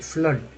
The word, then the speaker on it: flood: जैसे देखिए यहाँ पर FLOOR फ्लोर, नहीं FLOOD फ्लड, फ्लड फ्लड फ्लड में वो डबल ओ को आ बोल रहे हैं, डबल ओ को आ बोल रहे हैं।